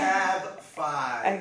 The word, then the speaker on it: DaCav5: I don't want to mispronounce it, so if you could say it. DaCav5.